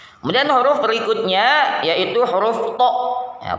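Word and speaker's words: ط: Kemudian huruf berikutnya yaitu huruf to. Ya, to cara bacanya atau cara pengucapannya yang pertama tempelkan permukaan lidah bagian ujung pada akar dua gigi seri bagian depan.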